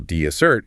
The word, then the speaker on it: dessert: But if you shift that stress to the second syllable, dissert, you are now talking about chocolate cake.